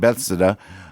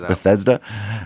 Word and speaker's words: Bethesda: that somewhere between Parkland and bethsida but whatever you know I've only told you how it is pronounced seven times Bethesda uh that the president's